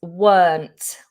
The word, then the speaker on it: weren't: The next contraction here is weren't. Are you noticing a pattern here? The word weren't contains the letter R, but we don't pronounce it.